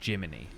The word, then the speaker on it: Gemini: Like there is a character whose name is Gemini, but they pronounce it Jiminy, like Jiminy Cricket, right?